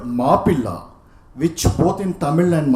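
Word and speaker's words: Mappila: The English pronunciation, the English term Moplah, what is known as Moplah, is a corruption of the word Mapilla, which both in Tamil and Malayalam means son-in-law, aliya, damad.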